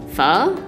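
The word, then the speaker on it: phở: Vietnamese it's spelled pho with a kind of like question mark accent on the O so when you pronounce it you kind of sound as if you're asking a question like fuh whenever my family has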